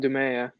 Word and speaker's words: Dumais: Yeah, Dumais.